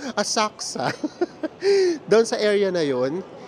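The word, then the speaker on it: Asakusa: hotel ay sa Asaka Tama ba yung pronunciation ko hindi daw binabanggit yung you Asaka doon sa area na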